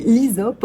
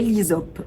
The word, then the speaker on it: hysope: essentielle alors c'est ça s'appelle l'isope couché et l'isope ou l'isope officinal l'isope ça s'écrit avec un H Ys o PEE c'est